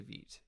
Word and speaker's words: Vite: And yes, Vite, pronounced Vite, it's from French. It, I believe, means fast, and Correct, it is. Yeah. Yes, Vite rhymes with sweet is my way of remembering it.